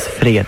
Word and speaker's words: fred: And you pronounce it Fred.